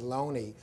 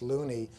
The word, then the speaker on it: Looney: earl of oxford was a man named jt loney spelled and often mispronounced looney by shakespeareans who don't want to take these